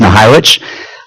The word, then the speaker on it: Nahojewicz: Not bad on my last name. It's pronounced Nahojewicz.